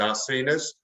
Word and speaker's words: Zarcinas: uh is because no one can pronounce my surname it's a zarcenas and but don't worry if you can't pronounce